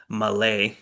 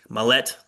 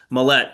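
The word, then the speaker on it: Maulet: squad, they signed um Arthur Mala, Mallette. Sorry, I even looked up how to pronounce it and then I got it wrong the first time. Mallette, uh, a cornerback who,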